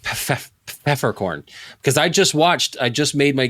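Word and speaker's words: Peffercorn: Well, actually, it's pronounced Pfeffercorn.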